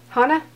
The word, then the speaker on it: Hana: Hana?